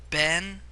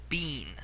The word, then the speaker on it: been: Ben is technically a mispronunciation. Technically it is properly said bean, as in like a bean in the ground.